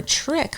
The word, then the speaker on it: trich: Third infection is called trichomoniasis, or trick for short. Because we're filming this at the time of Halloween, so immediately my brain wanted to call this episode Trick or Treat, but spelled like TRICH, like the disease.